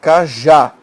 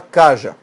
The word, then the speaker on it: cajá: Veja, você fala cajá, sílaba tônica está aqui. Você não fala caja. Fubá, fubá. Aqui é a sílaba tônica, rapé, rapé. Isso não é rap, nem fuba, nem caja.